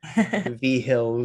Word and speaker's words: Vigil: I don't know if people are watching the video, but Vhill V. The V is the Roman numeral for the fifth. Vhill spelled like Vigil.